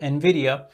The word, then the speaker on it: NVIDIA: think I made that mistake this time so in video and video is obviously a great stock they